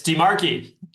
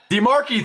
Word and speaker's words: DiMarchi: It's DiMarchi. DiMarchi, thank you.